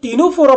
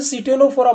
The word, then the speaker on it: Ctenophora: तो जब हम टीनोफोरा पढ़ रहे हैं, टीनोफोरा में सी जो है, आप इसे सीटेनोफोरा मत पढ़ना, सी यहाँ पे क्या है, साइलेंट है, तो टीनोफोरा पढ़ेंगे।